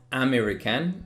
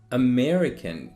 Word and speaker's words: American: the next one is it's not american it's american you need to put the stress on me so american next one